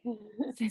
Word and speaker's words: Haag: You can pronounce it for me correctly. So she's a certified, say that again. It's Haag.